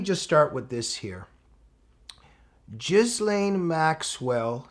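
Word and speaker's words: Ghislaine: Gizlane Maxwell, some say Gizlane. I think she even pronounces her own name Jizlane if I'm correct.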